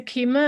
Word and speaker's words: Takima: east line public schools welcome to keema am i saying it correctly yes you are thank you okay glad